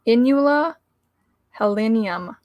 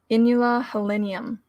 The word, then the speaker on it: Inula helenium: Its Latin name, the scientific name, is Inula helenium. Inula helenium. So Inula, Inula, helenium, like Helen, Helenium.